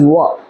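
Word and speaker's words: o'er: ও বলবে so far as I remember it is wa, not over.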